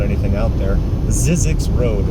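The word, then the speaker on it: Zzyzx: its name there really not anything out there zizzi Road it's spelled I believe z z as in zebra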